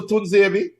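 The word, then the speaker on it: Tuanzebe: Is this how far Manchester United have fallen that you cannot pronounce Axel Tunzebi? Tuzebi, all right, yeah.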